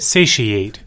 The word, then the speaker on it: satiate: is another word for like satisfied you know satiate Sushi is how you say that yes I didn't know how you said it I was just like that doesn't sound right say she ate yeah I didn't know how to say it